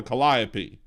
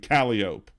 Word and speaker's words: calliope: playing that musical instrument, the musical instrument that's spelled that way is called a calliope. But if you're driving on the street, it's frickin' calliope.